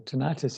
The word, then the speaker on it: tinnitus: been shown to improve tinnitus as well as or tinnitus if we want to pronounce it differently as well as sudden